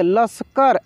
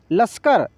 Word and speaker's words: लश्कर: यह लिखा तो इसको कैसे पढ़ेंगे लस्कर ऐसे नहीं पढ़ेंगे लश्कर ऐसे नहीं कैसे पढ़ना है लश्कर लश्कर लश्कर देखिए श का उच्चारण इतना तेजी से होगा की आपको पूर्ण रूप से सुनाई देगा सो नहीं सुनाई देगा लगेगा की 100 उसमें छुपा हुआ है इस तरीके से जैसे